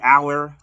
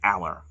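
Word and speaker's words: Allar: i am to drew aller i call him a lair i think it's just aller specifically pronounced but yeah um we're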